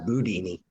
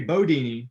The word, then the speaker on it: Bundini: I know Ali always pronounced it Boudini. Yeah, you know what? I have been told by the people who are close to Muhammad Ali and to Drew that if you say Bodini, that's how they know you're in the inner circle.